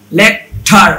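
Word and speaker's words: lecture: যাবে, ছ হয়ে যাবে, টি এর উচ্চারণটা হয়ে যাবে ছ। যেমন দেখেন, সেন্টুরি, ফার্নিচার, স্ট্রাকচার, লেকচার হওয়ার কথা ছিল, তাই না?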